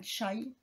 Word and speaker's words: chai: Et c'est le chai... Enfin, chai, parce que ça se prononce plus comme ça.